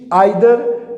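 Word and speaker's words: either: Each, आइदर, ये students आपने confuse नहीं होना, कुछ लोग इसको ईदर भी कहते हैं, ईदर भी वो भी करेक्ट प्रोनाउंसिएशन है और आइदर भी करेक्ट प्रोनाउंसिएशन है।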